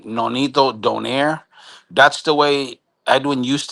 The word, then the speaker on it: Donaire: it's Don Aire.